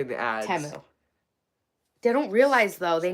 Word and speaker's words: Temu: they started pronouncing it because to Americans temu doesn't make sense yeah temu we read that as teu but that's okay I mean like to be fair it's not spelled like Teemu the my well you're